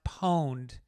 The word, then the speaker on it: pwned: It's an intentional misspelling of owned, pronounced poned, right?